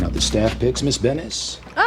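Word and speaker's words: Benes: So, I guess uh Kramer finally learned how to pronounce Elaine's last name. Oh, not Bennett. Yeah. So, he knows now, jackass, that it's Bennis.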